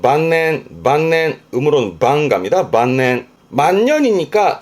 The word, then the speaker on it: 晩年: 만년이라 발음은 반낸 반넨 음으로론 반갑니다.